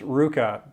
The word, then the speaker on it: RVCA: Ruka, RVCA, pronounced Ruka.